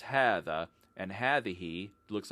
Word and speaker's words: هذه: Notice that هذا and هذه are both pronounced as if they have alifs after the letter ha and before the thal, and that's because long